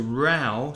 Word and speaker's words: row: a few rows rows are arguments and to rao so rau is a verb and a noun is rene